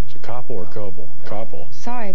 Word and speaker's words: Koppel: Koppel. Sorry, I pronounced it wrong.